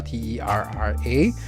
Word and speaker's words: Terra: Like Terra is pronounced as Terra, T-E-R-R-A, but you have a very soft H in the middle, so it's like Terra.